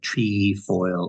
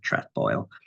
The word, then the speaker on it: trefoil: to pronounce it but it can be pronounced tree foil or trap foil and and in addition I've seen places where the it says that the British put the F in the first syllable so there are a